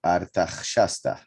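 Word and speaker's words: ארתחששתא: You see the Artach, here would be Artach. This is Shasta. So the pronunciation will be Artach Shasta.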